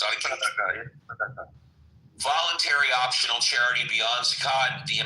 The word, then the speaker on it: Sadaqah: How is it pronounced? Sadaqah.